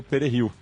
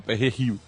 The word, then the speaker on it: perejil: dominicanos de ascendência africana, eles pediam que a pessoa falasse Perejil. E o francês não consegue falar com a mesma pronúncia, ele fala Perejil.